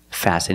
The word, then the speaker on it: fasten: fasten your seat belt fasten is a verb and the t is silent you need to fasten